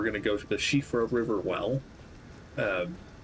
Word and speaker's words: Siofra: Well, um, Shiffra being an Irish word as I understand it and the SI in Gaelic pronunciations and names being an SH sound. Uh, as in Ashling or Roshene.